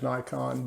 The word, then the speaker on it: Nikon: about 27% and then Nikon yes I said Nikon that's closer to the Japanese pronunciation of the word uh you'll hear me slip every once in a while and go back into the American version of it which is Nikon but Nikon is closer to being correct uh